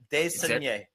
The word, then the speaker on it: Desnoyers: I think it's De Saunier. It's spelled Desnoyers. So De Saunier. Oh You have said it I 5 promise different you, ways. No, it's De Saunier.